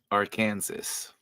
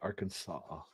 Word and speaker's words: Arkansas: a plain one too it's illegal to mispronounce the name of the state Aransas yes it has to be Arkansas what was the other